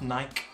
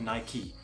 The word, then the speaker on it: Nike: has to stick so not night but Nike it is kind of